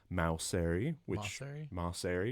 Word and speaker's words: Maucere: Her name is Alyssa Maucere, which we just got proper pronunciation from her.